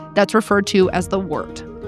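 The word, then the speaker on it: wort: referred to as the wart. Wart is spelled W O R T, by the way. It's a German word.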